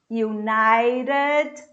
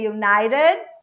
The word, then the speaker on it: United: most importantly united states united this t becomes a flap t so i say united i don't pronounce the